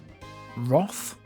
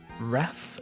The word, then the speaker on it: wrath: You're safe from my wreath or as some people pronounce it and I don't know why they do this wroth. Does anyone do that? Does anyone pronounce wrath as wroth?